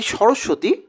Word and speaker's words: সরস্বতী: তো তিনি, তার যে নাম যে সরস্বতী, প্রকৃত উচ্চারণ হচ্ছে সরস্বতী। তো আমরা ওইটিকে চলতি ভাষাতে কিন্তু সরস্বতী বলি। তো এই সরস্বতী শব্দের মানেটা